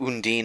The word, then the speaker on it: Undine: I mean, I knew Undine is the correct pronunciation, but I'm not sure if that's how Undertale wants you to pronounce it.